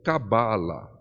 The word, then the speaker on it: cabala: todo o curso a expressão mais comum que é cabala né dando a força da sílaba tônica No bar né porém Lembrando que Se